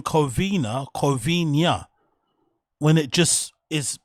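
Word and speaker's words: Covina: He somehow pronounces it Covenia, which kind of sounds Portuguese, kind of sounds Spanish. It's just a strange way to pronounce a word that looks pretty easy to pronounce um phonetically, right?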